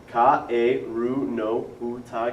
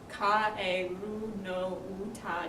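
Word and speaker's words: かえるのうた: So what you would do first is you would go over the pronunciation of the words, which are, please repeat after me, Kaeru no Uta ga. Kaeru no Uta ga.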